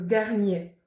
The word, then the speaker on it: dernier: certains mots de certains adjectifs comme premier ou dernier on ne prononce pas le 1er mai l'association du e